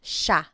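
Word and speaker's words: siya: And again, just to point out the pronunciation, it looks like it should be pronounced, but it's usually pronounced sha sha.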